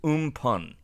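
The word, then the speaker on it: Amphan: and we have cyclonic storm and fan is pronounced in pun okay Pung we have cyclonic storm in Pond in the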